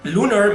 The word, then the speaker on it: lunar: Hey, did you know that lunar means mole in Spanish? Yeah, it's pronounced lunar.